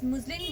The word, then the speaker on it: muslin: मुजलिन मतलब कि जिसको कि हम आम भाषा में मजलिन भी बोलते हैं ठीक से प्रोनाउंस किया जाए तो मुजलिन कहा जाता है इसको और इसको हिंदी में